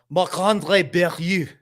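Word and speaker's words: Marc-André Barriault: I believe it's pronounced Marc-Andre Barriault, though.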